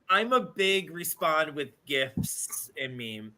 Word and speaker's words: GIF: gif guy is that how you say it gif yeah okay um I but I I think